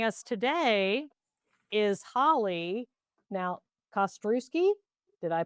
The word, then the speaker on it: Kostrzewski: I have a thing about mispronouncing people's names. I don't like to do that. So Kostrzewski, right?